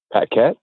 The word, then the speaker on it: Paquet: Paquet.